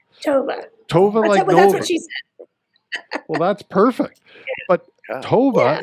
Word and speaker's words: Tova: tavera am i pronouncing tovera sherman's name correctly it's toba tofu sherman so toba like nova tovah well that's perfect but